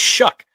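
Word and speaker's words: Shough: It's Shuck.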